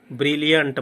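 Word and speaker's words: brilliant: इनको दो साइलेबल में हम प्रोनाउंसिएट करेंगे। देखिए ब्रिलियंट बोलेंगे, है ना, ब्रिलियंट, है ना।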